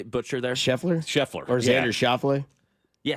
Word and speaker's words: Schauffele: Which one did I butcher there? Scheffler? Or Xander Schauffele? Yeah, Schauffele.